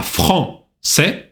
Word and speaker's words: français: А «français» – это сначала носовой звук «en», а затем сочетание «а-и» читается «э». «Français».